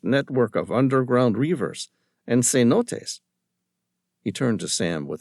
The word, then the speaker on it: cenote: "Not C-notes. It is pronounced cenote, from the Mayan word zizonot, which means waterhole.